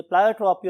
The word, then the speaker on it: pleiotropy: यस my dear students, अगर आप pronunciation की बात करें तो बहुत से लोग इसे प्लायोट्रॉपी और बहुत से लोग इसे प्लियोट्रॉपी भी बोलते हैं.